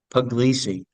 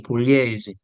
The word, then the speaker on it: Pugliese: Most people say Puglisi, but it's actually Pugliese, Gennaro.